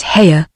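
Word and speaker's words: Haigha: does them when he's happy his name is haa he pronounced it so as to rhyme with Maya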